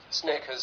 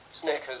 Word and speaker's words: Snickers: Snickers, sneakers. Snickers, sneakers.